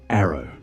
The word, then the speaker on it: ARRW: The air launched rapid response weapon pronounced arrow.